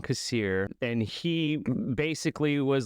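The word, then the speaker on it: Kassir: So it's John Casir. That's how you say it. John Casier.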